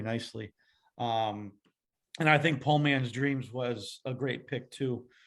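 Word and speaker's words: Poe Man's Dreams: paul man's dreams yeah po man's dreams um because of the edgar allan poe and then the southern pronunciation of port like that whole yeah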